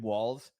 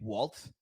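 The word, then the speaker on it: Walz: how a lot of people were pronouncing Tim Walls last name Waltz and then when we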